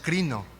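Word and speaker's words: κρίνω: Y esta palabra que está aquí es una invitación a juzgar sin condena, de la palabra griega kreno, que se pronuncia crino.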